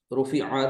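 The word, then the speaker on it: رُفِعَ: बस यहाँ पर आइन आ रहा है ना लास्ट में, तो इसका प्रोनाउंसिएशन थोड़ा सा मुश्किल हो रहा है। इसको इस तरह जी से देखिए, हाँ, इसमें आइन की आवाज भी समझ में आनी चाहिए, जैसे रुफिआ, रुफिआ, रुफिऊ, रुफिअत, रुफिअता, रुफिअना।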